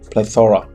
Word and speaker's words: plethora: in the correct form to learn how to pronounce just break it in two parts play thora yeah play ethora so you have to plethora okay let's move on